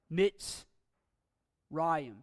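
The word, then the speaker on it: מִצְרַיִם: still closes a syllable in the case of mitzrayim we have MIT's Ryan and the Shiva is a stop it's a silent Shiva and it closes that syllable out but in the case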